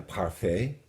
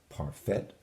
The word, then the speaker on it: parfait: And if you went to a buffet, you might select a dessert, which would be a parfait, not a parfait.